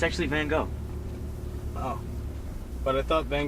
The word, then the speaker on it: Van Gogh: Alright, the next one is an artist of Dutch origin whose name rhymes with fried dough. Wait, hold on. I got this. It's isn't it Miro? Ooh, nah, good guess, but it's actually Van Gogh.